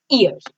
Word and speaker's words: ihr: So ear, it's pronounced like, I'll write the pronunciation here. ear.